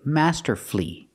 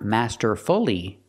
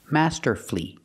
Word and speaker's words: masterfully: l l y and the stress is on the first syllable then the U is silent that's when the U is silent that's why we say master flee Master flee not masterfully make it three syllables